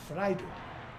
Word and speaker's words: Freiheit: The word freedom in German is pronounced Freiheit, the right to die.